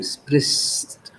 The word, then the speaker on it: sprichst: Du sprichst. It's not clear. Abi, ich brauche das hier und ich brauche das hier. Sprichst. Sprichst. Ich und dann sch und dann s. Two different sounds.